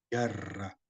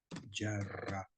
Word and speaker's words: jarra: en cuestión sí viene se pronuncia yarra yarra Sí el abat ahora por